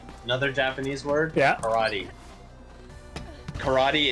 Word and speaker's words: karate: Karate in Japanese is pronounced basically the same way that SpongeBob SquarePants pronounces it. Yeah. Karate. Yeah, I mean, basically, it's A instead of E. It's karate.